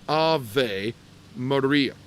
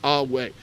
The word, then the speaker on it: Ave Maria: the name capital M-A-R-I-A, it is properly pronounced Ave Maria, not Awe, because as you move into that ecclesiastical pronunciation, later pronunciation, the V sounds like a V.